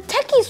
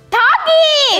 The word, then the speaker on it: Takis: The techies were good. What are they supposed to be called? Takis! It's spelled T-A-K-I-S, techies.